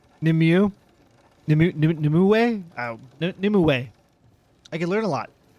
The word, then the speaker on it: Nimue: Maybe if I listened to them and figured out how to pronounce their names. Nimue? Nimue? Oh, Nimue.